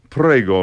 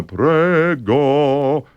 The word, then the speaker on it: prego: Americans would say in the Germanic style, prego. The Italian would prego. They wouldn't pronounce the G until they're down to the next note.